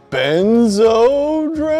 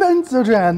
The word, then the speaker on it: Benzodran: Do you mean Benzodran? Oh, Benzodran. That's how you say it.